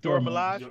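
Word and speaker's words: Dora Milaje: the doorbell or the how you pronounce that dora is it dora milaj yeah you got it yeah don't [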